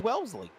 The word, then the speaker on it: Wellesley: could uh but it's it's Wellesley it's not Wesley like my name it's Wellesley Massachusetts and uh he is the